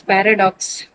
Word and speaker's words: paradox: Next is paradox.